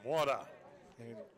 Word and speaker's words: Mora: and RV Center, Roman Mora for the second time today. Strikeout his first time. There's a swing and a miss. It's not more, it's Mora. It's Roman Mora.